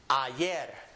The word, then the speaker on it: ayer: beginning of a word, it will always have a Y sound, just as it is in English. So this word is pronounced ayer.